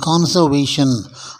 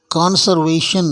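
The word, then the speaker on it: conservation: உச்சரிப்பு கிடையாது கான்சவேஷன் version கான்சர்வேஷன் ஆருக்கு நடுவுல வர்ற ஆருக்கு இங்க உச்சரிப்பு கிடையாது வெர்ப்லயும் உச்சரிப்பு கிடையாது நவுன்லயும் உச்சரிப்பு கிடையாது கன்சர்வ் அப்படின்னு சொல்லணும் கான்சர்வ்னு சொல்லக்கூடாது கான்சர்வேஷன் அப்படின்னு சொல்லணுமே தவிர கன்சர்வேஷன் அப்படின்னு சொல்லக்கூடாது இப்ப மறுபடியும் மேலிருந்து கீழாக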